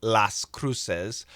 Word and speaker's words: Las Cruces: of Las Cruces and I don't know the Spanish pronunciation of las cruces but American pronunciation las cruces so it's a big